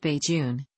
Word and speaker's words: Bajan: The term Bajun, pronounced Bajun, may have come from a localized pronunciation of